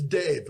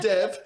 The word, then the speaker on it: Dev: Listen, man, it's Dave.